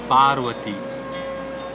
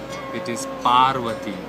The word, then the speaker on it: पार्वती: Shiv Shiv Shiv wife पार्वती पार्वती सम पीप से परवा पार्वती another name of Shiv